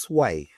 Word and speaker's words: Sui: haven't done sui yet you know it's pronounced sway sway s sway s